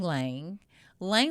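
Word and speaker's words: ylang-ylang: I would say Lang Lang Lang Lang is great because when I say Lang Lang it spelled with a Y if you look it up y l a n g but Lang Lang is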